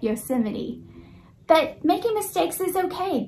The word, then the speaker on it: Yosemite: learned that there is a way to pronounce the word Yosemite not yes in the night Yosemite but making mistakes is